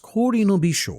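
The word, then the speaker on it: 氷の微笑: The kanji portion is pronounced Kori no Bisho, literally meaning smile of ice, and this is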